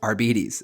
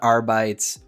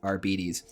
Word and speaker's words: Arbites: Well, first off, it is pronounced Arbites. Actually, Warhammer put out a video recently. It is not Arbites, Arbites, it is Arbites.